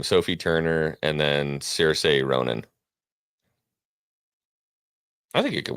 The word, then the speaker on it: Saoirse: Oh, it's Saoirse Ronan. I thought it was Cersei. Oh, Cersei. There's another Irish lady who pronounces it differently with the same name.